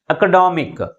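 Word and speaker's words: academic: వస్తుంది అన్నమాట for example ఎకడామిక్ ఇప్పుడు స్ట్రెస్ అనేది ఎక్కడ పెట్టాలి థర్డ్ సిలబుల్ ముందు పెట్టాలి అంటే ఇక్కడ ఐ సి అనే సఫిక్స్ యాడ్ అయింది కాబట్టి ఈ పదానికి ఐ సి అనే సఫిక్స్ యాడ్ అయింది కాబట్టి స్ట్రెస్ ఏమైంది సెకండ్ సిలబుల్ నుంచి థర్డ్ సిలబుల్ కి షిఫ్ట్ అయింది దిస్ ఇస్ కాల్డ్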